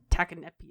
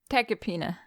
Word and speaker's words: tachypnea: Might have tachycardia or tachypnea. I totally just butchered that word. Tachypnea.